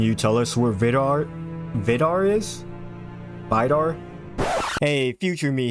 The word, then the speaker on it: Vidar: thing I say is the correct pronunciation of Vidar yet for some reason I always second-guess myself and never go over my instincts because of this further duration of this video You're Gonna See Me pronouncing it the second way I'd said it which is the wrong way Vidor yes I know I'm